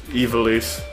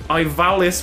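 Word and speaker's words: Ivalice: Oh, yeah, in, Evilise. Yes. That is such a stupid fucking pronunciation of that combination of letters. Yes. Yes, it is. Like, Ivalis would actually sound more like what it's supposed to be.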